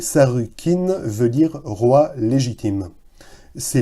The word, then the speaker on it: Sargon: sumer et d'akkad d'ailleurs son nom sargon dont la prononciation en langue originale et et sarkin veut dire roi légitime